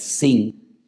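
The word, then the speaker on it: ש: se llama la letra Shin, pero que tiene doble pronunciación, porque si arriba te encuentras un punto a la derecha es Shin, y si te encuentras arriba un punto a la izquierda es Sin, pues ahí encontramos a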